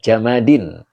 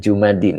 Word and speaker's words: jamadin: orang ya gitu ya yang bendil adalah jamadin jamadin jangan jumadin ya jamadin jamad jamad itu baku ya makanya tadi diartikan benda